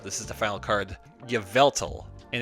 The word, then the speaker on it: Yveltal: So here we have a Yveltal. Good lord, I should probably learn how to pronounce it. This is the final card. Yveltal.